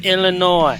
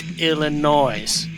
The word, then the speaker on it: Illinois: got to tell you S is silent people its Illinois not Illinois's get it right so